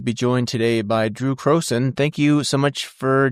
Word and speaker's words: Crowson: and I'm pleased to be joined today by Drew Croen.